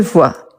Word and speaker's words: voit: on a il ne voit rien sans c'est le net donc comme la prononciation c'est la même il c'est à vous